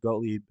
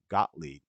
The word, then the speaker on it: Gottlieb: Jabs these files proved goat lead goat Lieb I'm pronouncing that wrong it's German Gottlieb Gottlieb Gottlieb but is it